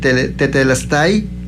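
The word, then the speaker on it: τετέλεσται: Es una palabra de origen griego que más o menos se puede pronunciar de la siguiente manera: tetelestai.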